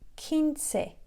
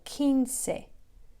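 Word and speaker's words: quince: number 15 kinse and do you remember that we talked about how the q and the u are like glued together that they make one sound they're like this the sound like k so kinsey so the q and u are together that sound is together kinsey so let's spell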